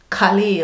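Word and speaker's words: Carlisle: The next city is Calais. I don't know how to pronounce it properly.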